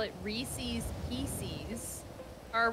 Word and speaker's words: Reese's: ] who call it reese's pieces are wrong reese's rhymes with pieces sorry my mother says